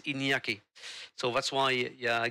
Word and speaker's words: Iñaki: Let's say Inaki, but in Spanish it's in Basque is Iñaki.